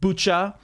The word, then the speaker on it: Bucha: get the idea also i don't know if i've been butchering the pronunciation of the of the town i think it's actually bucha right which uh is is